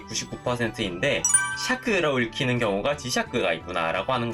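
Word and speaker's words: 磁石: 거의 없는데 이 우리가 흔히 쓰는 단어 중에 지샤크, 자석이라고 하는 단어에서는 샤크라고 읽히니까 이 시는 음독으로는 세키라고 읽히는 게 99%인데 샤크라고 읽히는 경우가 지샤크가 있구나 라고 하는 것 정도만 파악을 해두시면 됩니다.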